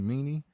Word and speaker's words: Meany: for a fire sergeant sergeant kyle meany is how you say his name meanie he's a meanie more than the meaning